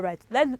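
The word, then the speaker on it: write: are you ready all right let's look at silent letter w for the first one we have w-r-i-t-e what is that children we don't pronounce wrongly you're correct it is right w-r-o-n-g is what wrong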